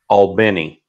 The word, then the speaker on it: Albany: if if you're wondering that's that's the way the locals say it but you know there's an albany in like 26 states or something like that so so you know i think it depends on where you are i've always been fascinated